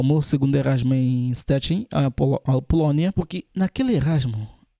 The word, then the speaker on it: Szczecin: Se eu falar em português fica estranho. Em pronúncia deles é Szczecin, onde eu fiquei, a